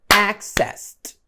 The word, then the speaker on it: accessed: Então por ser um verbo regular, quando nós pronunciamos no passado ou no particípio, a pronúncia vem como um T. Então, access, accessed.